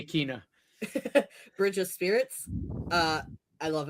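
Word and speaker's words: Kena: It's Kina. I say her name wrong all the time. Yeah. I used to say Kina.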